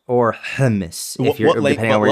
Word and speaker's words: hummus: No, it's, the word is hummus or hummus. If you're, depending on where you come from. What language is that? That's the pronunciation from a Hebrew perspective or an Arabic perspective.